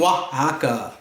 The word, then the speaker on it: Oaxaca: to play Ouija with the wee witch from Oaxaca can you find the wee witch from Oaxaca